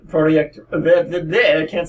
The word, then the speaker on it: Projekt: then someone from CD Projekt the same that's how it's pronounced project a bit then it